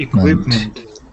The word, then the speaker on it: equipment: equipment we've met quit equipment it could meant a lot of people add a tee right after the pea coats meant equipment technically there isn't one there so here listen if